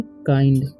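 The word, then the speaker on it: kind: काइंड है ठीक है इसे पढ़ेंगे हम काइंड किंड नहीं पढ़ना इसे पढ़ते हैं काइंड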